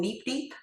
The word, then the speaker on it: Neep Deep: Um, which we call Neep Deep. And if you need to remember how to say it, say it like a robot neep deep.